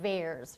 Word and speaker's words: VAERS: But the favorite parallel database is this Vaccine Adverse Event Reporting System, or VAERS, rhymes with bears.